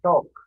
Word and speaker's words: talk: කතා කරනවා talk. කතා කරනවා talk. මේ L එක මෙතෙන්දී L එක silent ආ. talk නෙමෙයි talk. L එක pronounce කරන්නේ නැහැ.